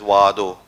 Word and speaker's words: Oado: that is pronounced as wado which is can be immediately understood as sanskrit vata so it is a